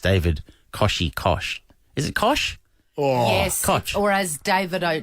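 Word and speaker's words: Koch: uh Sunrise co-host David kosi Kosh is it Kosh oh yes or as David Dave O'Neal calls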